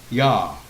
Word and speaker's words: Yah: nature and historical data the initial sound is pretty much surmise to be yah which rhymes with claw or like me cat's